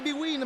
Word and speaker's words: Bwin: della passione si legge Serie B Win Ma è un vero